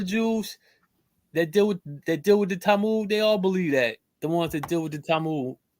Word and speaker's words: Talmud: This is in a how you pronounce that, Nasir? Talmud, the Talmud.